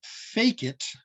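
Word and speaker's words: fecit: Unfortunately for me, with this rack, I'm looking at trying to block this, but the OSW Latin-derived word pronounced fake it, believe it or not, a way of identifying artwork, does not take an S on the end of it.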